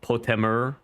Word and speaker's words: Potemer: Name's pronounced Potemer altogether.